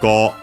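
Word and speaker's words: 号: On its own, Go accented. So, Go U, but the U becomes simply the long vowel of the O. So actually, yeah, Go. So yeah, the accent is on the Go.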